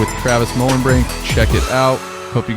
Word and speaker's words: Mohlenbrink: Mohlenbrink, yeah.